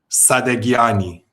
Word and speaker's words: Sadaghiani: Sadaghiyani. Sadaghiyani? Yeah. Well, in Farsi it's actually Sadaghiyani but you don't have the sound in English so the H is silent basically. So, Sadaghiyani.